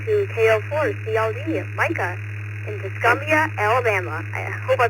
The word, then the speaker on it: Tuscumbia: All right, we're going to head it on down to KO4 CLD Micah in Tuscumbia, Alabama. I hope I pronounced it right.